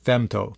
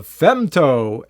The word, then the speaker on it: Femto: I pronounce that correctly they name this the Pavo femto f m t o so I'm pronouncing it fto anyways this is a